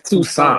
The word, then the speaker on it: Toussaint: It's Toussaint.